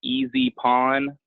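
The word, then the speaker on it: EZ Pawn: a pawn shop, like Easy Pawn. It's supposed to be easy, like not hard, but it's spelled E-Z, 2 letters, Easy Pawn.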